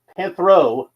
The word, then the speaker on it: Panthro: Panthro.